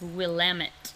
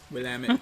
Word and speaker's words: Willamette: People not from Oregon will always pronounce it Willamette because it looks like that's how it's spelled, but I'll give you guys the inside scoop. It's Willamette. Willamette.